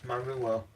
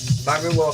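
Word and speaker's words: Mauro: I always used to think it was Mario, but it's not. It's Maruo, I think is pronounced as.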